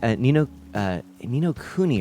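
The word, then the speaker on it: Ni no Kuni: So you got to see some Nino Kuni, right? That's how it's said.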